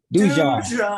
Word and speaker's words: Dijon: I know it's Dijon. Dijon is quite simple to pronounce. Yeah, but anyways, Dijon, like Grey Poupon.